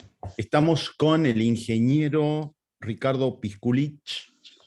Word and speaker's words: Piskulich: estamos con el ingeniero Ricardo pisculich pronuncie bien pisculich o pisculich muy bien bien Cómo